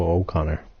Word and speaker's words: O'Connor: think Brenda Moore is forgetting to pronounce his surname properly it is not Connor it's Joe O'Connor okay I can't pop